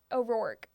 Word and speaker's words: O'Rourke: Orourke.